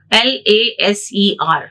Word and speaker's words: laser: So we never pronounce this as L-A-S-E-R. Not like individual letters.